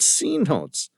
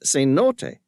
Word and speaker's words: cenote: "Not C-notes. It is pronounced cenote, from the Mayan word zizonot, which means waterhole.